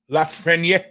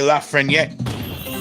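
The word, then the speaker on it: Lafrenière: looks like alexei lafreyer la frenia i learned sil it's just not saying the last syllable it's alexei la freniere oh wait a minute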